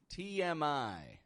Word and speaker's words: TMI: TMI. Is this an acronym or an abbreviation? This is an abbreviation. I'm only pronouncing the initial letters of 3 different words. And I say TMI.